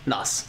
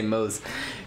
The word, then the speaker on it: Nos: Oh, it rhymes with Moss. Nos. Got it. I was going to say Mose.